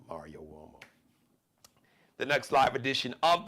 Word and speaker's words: Uomo: Now Uomo sounds like it's spelled with maybe a W, like a what? W-O? No. It's an Italian surname, so it's U-O-M-O. U like umbrella, O like Oprah, M like Mary, O like opera, Mario Uomo.